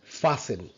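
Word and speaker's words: fasten: যে সিটবেল্ট বাদে আমরা ফাস্ট নট ফাস্ট ফাসেন ফাঁকে ফাসেন সিট বেল্ট খাসল খাসল ক্যাসল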